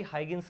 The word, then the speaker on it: Huygens: गई उसके बाद आई हागिंस की थरी किसकी थरी आई हागिंस की कुछ लोग यू जेंस भी बोल सकते हैं आपको जो अच्छा प्रोनाउंस लगे आप कर सकते हो यू जेंस थ्योरी इन्होंने